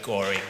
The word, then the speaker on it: Goring: Goring is the correct pronunciation.